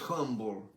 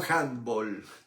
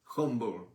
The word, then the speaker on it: humble: en inglés en inglés la palabra es humble hu m b larga le humble no handb humble que viene Eso quiere